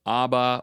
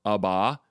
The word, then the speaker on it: Abba: Abba, father, which by the way can be pronounced aba or aba.